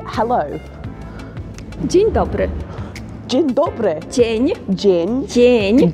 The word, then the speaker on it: Dzień dobry: Dzień dobry.